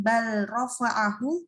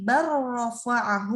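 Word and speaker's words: بل رفعه: Jadi bacanya bukan bal rofa'ahu, tapi bar rofa'ahu Allahu ilaih. Barro. Wakul robbi. Jangan dibaca wakul, tapi wakul robbi. Langsung ke huruf ro.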